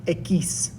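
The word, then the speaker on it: equis: up we have x which sounds like you're a french person asking asking someone for a kiss so it's pronounced ekis and then a word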